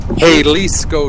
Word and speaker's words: Jalisco: J makes an H sound in Spanish. Jalisco Jr.